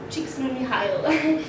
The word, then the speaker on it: Csikszentmihalyi: Okay, Flow by Mihail Csikszentmihalyi.